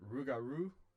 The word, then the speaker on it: Rougarou: to be pronouncing it Rougarou, because I think that's how Cajun people say it, and I'm going to do my best to say it like a Cajun person instead of like some